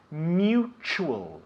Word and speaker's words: mutual: The third word is spelt exactly the same in English and Spanish, but pronounced differently, okay? Mutual, mutual, yeah?